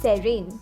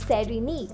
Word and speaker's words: serene: Serene means calm, peaceful, and happy. It's not serene, it's serene. Pay attention to the stress on the first syllable.